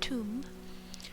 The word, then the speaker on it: Thumb: Thumb, pronounced tomb.